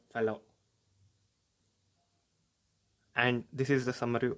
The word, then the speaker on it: Fallot: endocarditis now fun fact it is pronounced as tetralogy of fellow and this is the